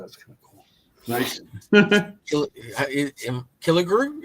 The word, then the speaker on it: Killigrew: Killigrew? Is that how we're supposed to pronounce it, or is that wrong? It's both. It's Killigrew and it's Killigrew. Okay. It started out not Kellogg. Kille, and they changed it. It was Kille, and then they swapped the E and